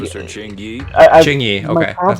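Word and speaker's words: Qingyi: Ching-Yi, okay, that's how you say it.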